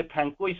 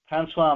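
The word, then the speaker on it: François: आपण जो पंडिचेरी बुलुचंती सेटा एक्चुअली फ्रांकोइस नुहे कि मार्टिन नुहे फ्रांसवा मार्टिन स्ट्रीट कना शेष अक्षरटा उच्चारण हुए नै तेणु एठी जो दांतन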